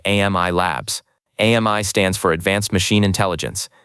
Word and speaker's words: AMI: AMI stands for advanced machine intelligence and it's pronounced like the French word for friend.